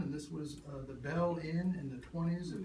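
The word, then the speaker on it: Beale: some people named Bell spelled b-e-a-l-e but it's pronounced Bell took over in the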